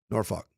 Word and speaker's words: Norfolk: You like how I say Norfolk? That's how they say it in the Tidewater. Norfolk.